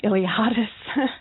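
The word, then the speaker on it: Iliades: Oh, I think it's just my name, Iliadis. Yeah, we'll just spell that for you.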